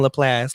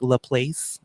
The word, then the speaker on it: LaPlace: time so my parents my family lives in laplace louisiana if you read it on paper it looks like la place but it's pronounced laplace okay triflet just off okay and